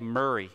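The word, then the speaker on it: Moray: be the earl of it's spelled m-o-r-a-y but you actually saved murray he became the earl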